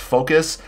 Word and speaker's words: FOKOOS: names but can we can we spell it like we say it apparently it's pronounced focus and i'm going to